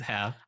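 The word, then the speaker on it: Herr: You pronounce the h. It's like is that like herb though where we don't say it and you do? No, it's hair.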